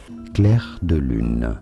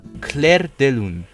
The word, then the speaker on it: Clair de lune: Fuck, I need to learn how to pronounce this. Clair de lune. Clair de lune.